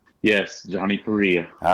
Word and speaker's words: Perea: Yes, Johnny Perea.